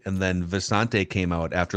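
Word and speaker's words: Visanthe: Oh, I'm sorry, it was Visante Shanko, right? And then Visante came out after like his third year with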